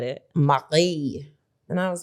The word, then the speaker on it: Marie: Everyone's going to call her Marie, but it is a French name, and that's how the French pronounce it.